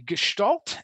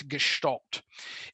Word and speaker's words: Gestalt: rare cases we can do bottom-up processing ok Gestalt and that's how you pronounce it there's a hidden H in the word its Gestalt and it's a type it's I guess it's